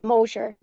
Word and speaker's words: Mosher: His last name is pronounced Mosher. Mosher. Okay, I'm sorry. Mosher.